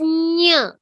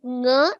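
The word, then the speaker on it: ञ: So it should not sound like nga. It should, like how you say chanchalam. How do you say chanchalam? Chanchalam. Chanchalam. So you got that ny sound, right? That is the sound. That is the sound that should come. Okay.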